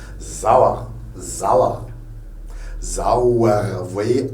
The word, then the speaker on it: Sauer: S plus voyelle, c'est un Z. Sauer.